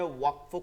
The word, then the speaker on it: ওয়াকফ: ওয়াকফুন, ওয়াকফুন, এটাকে অনেকে আপনারা ওয়াকাফ বলেন। এই দেখেন, এটা ওয়াকফুন। এটা আপনারা অনেকে বলতে পারেন, আমি দেখছি অনেক আমাদের অন্য গ্রুপের ভাইরা ওয়াকাফ বলেন। এটা ভুল, উচ্চারণটা কি ভুল। ওয়াকফ বলতে হবে, ওয়াকফ।